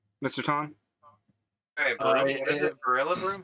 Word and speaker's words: Rillaboom: Rillaboom. Ooh. Spicy. That's a good Mr. Tom? Hey, is it Rillaboom? How do you spell that? I'm so sorry. R-I-L-L-A. Gorilla Boom. It's Gorilla Boom, but there's no gore.